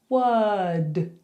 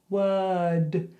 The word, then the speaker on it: word: So you say word, word. No R, just were and then d.